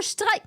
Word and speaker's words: Streik: You can't use an English loan word and pronounce it English because then a German won't know what the fuck the word is.